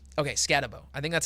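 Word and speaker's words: Skattebo: It's Cam Scatabo. Okay, Scatabo.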